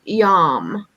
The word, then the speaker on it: yam: and it is pronounced yam y-a-m and that's something um you can chant to help uh balance the heart chakra it would be something like yum do you think